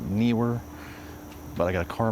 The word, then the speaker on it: Neewer: N were is that how you say it? I always called it newer, but new were.